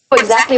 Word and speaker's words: exactly: you exactly exactly exactly exactly what she's going through exactly what she's going through exactly stress on the middle syllable there how do you know